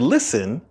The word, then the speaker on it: listen: The stress of the word listen is at the beginning. Listen. Listen. And you'll also notice that in this word listen, the T is silent. Listen.